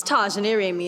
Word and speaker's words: Tya Jané Ramey: it's Taj near Amy it's not pronounced as it's spelled yes it is there's an accent on the E and it's ought to